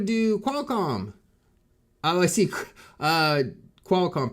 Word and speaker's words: Qualcomm: Qualcomm, pronounced Qualcomm. Yeah, cause I know some people say quail.